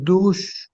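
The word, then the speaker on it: Doğuş: a special pronunciation it's dou it's like silent G with h sound at the end it's not an is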